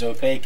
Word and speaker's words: opaque: can't see through opaque because opaque is like a snake there still got that